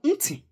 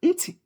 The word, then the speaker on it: nti: is ear is called nti in Igbo. Nti. Say it. Nti. Nti. So I'll spell it in English. N-T-I. Okay. In Igbo. Ni. Ti. I. Ni. Ti. I. Nti. Okay.